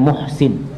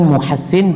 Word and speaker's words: Muhassin: Ana mendengarkan beberapa masyayikh membacanya Muhsin, tapi di sini disebutkan Muhassin bitasydidi as-sin.